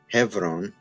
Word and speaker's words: Hebron: english of uh so if we wanted to actually do the way this is pronounced today hebron this would be the closest we could get hebron right um it's sort